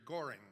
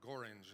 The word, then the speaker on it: Gorringe: And while he was at that meeting, he met a guy named Henry Goring, or Gorringe, it's sometimes pronounced, but I prefer Goring.